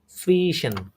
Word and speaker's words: zwischen: পরবর্তীতে প্রিপোজিশন নাম হচ্ছে আমাদের সুইশন। কি বলে এটাকে? প্রনাউন্সিয়েশন করেন সুইশন। সাফিসিয়েন্ট। সুইশন, সুইশন, সুইশন। আবার সুইশন না, একদম এটা এটা কিন্তু ভে, তাই না? একটু ভেটা উচ্চারণ করা হবে।